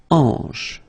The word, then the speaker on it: hanche: La hanche. Remember, H here is not pronounced, so you get the sound en, hanche at the beginning.